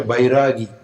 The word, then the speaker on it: vairagi: And the one who has developed the viraga is a vairagi. Vairagi is sometimes colloquially called a bairagi.